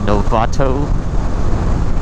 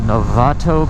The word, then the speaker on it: Novato: I thought this would be a less trafficked way, but I probably should have just taken the 101 up to Novato, I believe is how it's pronounced.